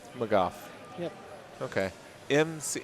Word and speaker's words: McGough: mind I've been saying oh yeah no McGough McGough yeah okay MC spell it again MC geo ugh okay that makes